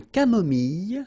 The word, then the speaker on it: camomille: Un thé nature, une tisane, une camomille. So remember when we get this E and then double L, it goes like y.